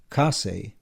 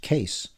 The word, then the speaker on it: Kase: Kase is pronounced Ka-se, and Justin, Jasutin, Kase sounds perfectly ordinary and respectable. But to most people here in Australia, the surname looks like it should be pronounced Case.